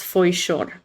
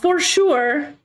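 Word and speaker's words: Foișor: My last name is pronounced Foishor. Not for sure. Not for sure. Foishor. That's the official pronunciation. Romanian. Glasses, Dirke, long time no see.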